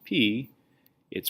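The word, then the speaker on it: π: into Greek the letter P and Greek isn't pronounced P it's pronounced pi and it's written like this and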